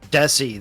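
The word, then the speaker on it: Dhesi: for him man yeah Raj desie I think is how you say it desie that's what it is yeah yeah uh oh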